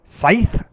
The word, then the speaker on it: scythe: so how do you I've never been good at pronouncing that Sid sies it's Scythe that's a stupid word